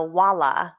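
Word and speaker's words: hvala: it right for example thank you is a wallah voila like wala bear and then they come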